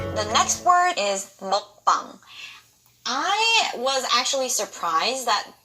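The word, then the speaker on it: 먹방: The next word is mukbang. I was actually surprised that this word has gotten so popular, but why are you guys pronouncing it as mukbang? What is muk? It's not mukbang, it's mukbang.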